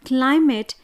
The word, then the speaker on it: climate: For example, when we pronounce the word climate, the stress will be on the first syllable, that is CLI, and MATE should be unstressed.